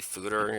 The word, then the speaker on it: fodder: fodder that's a pun I pronounced it cannon fodder it I actually googled it maybe fooder is kind of how that kind of spelled word is usually pronounced but I'm just gonna say fodder because why not I make the rules